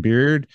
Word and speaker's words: Beard: name oh really yeah people decide Baird b-a-i-r-d or I I've come to just say beard like the facial hair on on your face and then it